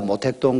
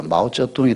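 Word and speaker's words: 毛泽东: 이제 관행이 되어 가는데 옛날에 다 모택동 그랬는데 요새는 모택동이 안 그러죠 마오쩌둥이 다 발음하지 않습니까 이 두 단어를 합성한이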